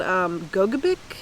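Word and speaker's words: Gogebic: It's called Gogabik, I think is how you say it. Gogabik. Yeah, or at least that's how Siri pronounced it.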